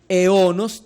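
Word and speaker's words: αἰῶνας: En el griego dice aionas, ton, aionos. La pronunciación es eonos, ton, eonos, por el diptongo.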